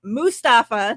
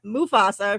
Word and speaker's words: Mustafa: my head even though his last name is Mustafa not Mufasa right I say and